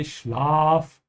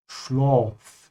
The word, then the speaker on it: Schlaf: Make sure you open your mouth when you say Schlaf. So you should always say Schlaf, like a dentist is telling you to open your mouth, instead of Schlaf. Yeah, so keep your mouth open.